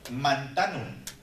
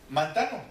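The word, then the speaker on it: μανθάνω: aparece esa palabra aprender viene del del griego Manzano bueno así lo leemos verdad pero saber si se pronuncia así en el griego la cosa es que es mantano así lo así lo escriben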